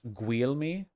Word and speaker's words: Guglielmi: It's pronounced Guglielmi, Guglielmi, Guglielmi, Guglielmi.